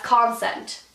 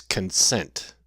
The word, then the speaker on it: consent: clothes are seen as concent you put the emphasis on the wrong syllable there dear its consent but no you're repeating